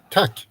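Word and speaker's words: tack: Tuck.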